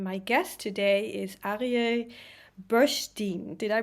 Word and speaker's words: Bursztyn: And my guest today is Arye Bursztyn. Did I pronounce it correct? Bursztyn, almost. Bursztyn.